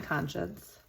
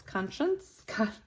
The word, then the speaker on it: conscious: wreaths on being time conscious. Conscious conscience conscious. Not that second N in there.